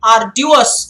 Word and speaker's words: arduous: Instead of just asking me the meaning, arduous is the correct, authentic pronunciation.